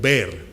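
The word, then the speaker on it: באר: La palabra pozo es una palabra que tanto en arameo como en otros idiomas se traduce como ver, B-E-E-R, ¿verdad? Así podemos pronunciarla en español.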